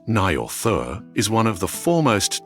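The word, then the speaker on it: Njord: Nielder, pronounced roughly as Naur, is one of the foremost deities of the Vania tribe.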